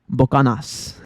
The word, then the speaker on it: Buchanan: So when y'all see the alcohol Buchanan, I'm pretty sure no Mexican person is ever, even if they know how it's said, I'm pretty sure no Mexican is ever going to call that alcohol Buchanan. They're always going to call it Bocanas.